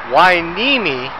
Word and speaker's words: Hueneme: I am in Port wiimi uh strange pronunciation for the name but let's